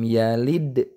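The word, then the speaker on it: يلد: Lam yalid sama ini juga harus dipantulkan. Namun yang ini qalqalah sugro.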